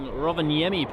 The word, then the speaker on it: Rovaniemi: And Nicola saying Rovaniemi, perfectly pronounced.